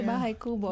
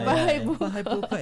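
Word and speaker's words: Bahay Buko: like a tongue twister I know you want to say bah Kubo but it's bah B it is exciting it's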